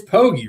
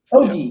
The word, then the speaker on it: Poggi: It's Poggi, right? Poggi, yes. Yeah, that's what I thought. With a hard G.